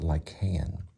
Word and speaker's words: Lycaon: So it's pronounced Lycaon.